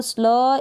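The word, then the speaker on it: sleigh: यहाँ पर जो लास्ट में जी एच है ये साइलेंट है, लास्ट वाला जी एच साइलेंट है, स्ले पढ़ेंगे, ठीक है। ई आई को ए पढ़ेंगे और जी एच साइलेंट है यहाँ पर।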